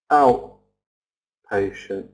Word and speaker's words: outpatient: T appointment appointment outpatient out patient outpatient I'm not pronouncing the T like outpatient outpatient it's too difficult for for